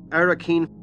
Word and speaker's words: Arrakeen: Many would pronounce it Arrakis, but Herbert pronounces it Arrakis. Arrakis. Arrakeen. The capital city of Arrakis. Arrakeen.